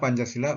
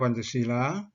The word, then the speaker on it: Pancasila: atau lima dasar sedang Pancasila dengan huruf dewanagari dengan huruf e-nya tanya panjang memiliki arti lima aturan tingkah laku yang penting 5